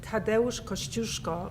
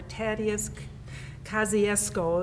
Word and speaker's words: Tadeusz Kościuszko: with the Revolutionary War with Tadeusz Kościuszko, or Tadeusz Kosciuszko is the mispronunciation, or Kazimierz Pułaski, or Casimir Pulaski is the way most Americans pronounce it.